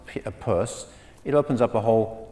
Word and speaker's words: Peirce: Louvre people not in the know it signifies Pierce okay I certainly would have if I had